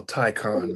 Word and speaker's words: Taycan: And the Porsche Taycan. Okay. I'll take the Taycan over that any day. Well, I'm gonna correct you. I get to correct you. It's called a Taycan, man.